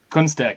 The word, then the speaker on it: Kunstek: How do you pronounce it? Kunstek.